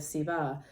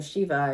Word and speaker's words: Shiva: So she knows all the secrets to the universe, because she spent 10,000 years inside of Siva, or Shiva if you're pronouncing from northern India.